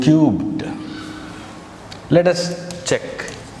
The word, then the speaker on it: cubed: Is 3 to the power of 2 or 3 squared equal to 2 cubed? You should pronounce like, if it is in this way, you should pronounce as 2 cubed, not 2 cube.